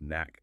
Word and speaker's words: NAC: MDM mobile device management pronounced MDM systems and network access control NAC pronounced knack systems use this extensively.